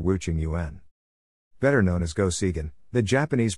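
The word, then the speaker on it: Go Seigen: life and times of wu ching yuan pronounced go segan in japanese wu is considered the greatest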